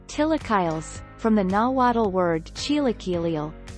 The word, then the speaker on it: chilaquiles: let us show you the way chilaquiles spanish pronunciation tillakiles from the nalwatal word chilocalial tilakillet chilis and